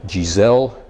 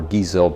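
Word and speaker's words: Geissele: aesthetic I have a two-stage Giselle Trigger or geezell trigger however you want to pronounce it and sometimes on a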